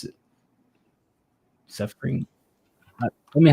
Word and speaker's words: SFRNG: Suffering. Tell me how to pronounce it. Seth Green. No, there's no G in here. It's SFRNG. Suffering.